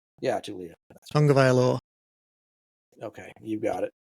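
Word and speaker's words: Taulia: Tulia. Pronounces Tulia. Yeah, Tulia.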